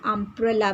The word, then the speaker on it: umbrella: But for the letter U, mostly the sound is A, like umbrella. When we write umbrella, the first letter is U, but the sound is A.